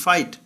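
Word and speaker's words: fight: লাফ এখানে যেটা অনুচ্চারিত, ফাইট এখানে যেটা অনুচ্চারিত। এইচ অনুচ্চারিত বা এইচ সাইলেন্ট।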